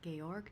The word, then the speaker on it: Georg: him just yet so saint georg church it's how you say it get org really is how you say that german hello yeah but but